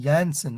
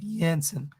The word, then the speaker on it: Jansen: few oh clinical says jansen is pronounced janssen okay jensen good to know for the review thank you let's see